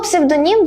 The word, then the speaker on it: псевдонім: а частіше ї псевдонім слово псевдонім дуже часто наголошують неправильно Але у нього доволі простий наголос на останній склад слово загадка має тільки